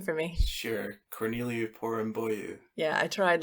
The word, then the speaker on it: Corneliu Porumboiu: And Mark, could you please pronounce that gentleman's name for me? Sure. Corneliu Porumboiu.